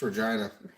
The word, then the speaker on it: Regina: Ryan, it's Regina, the city that rhymes with fun. Hey, wow. He's like, it's easy to remember. Just remember the word vagina.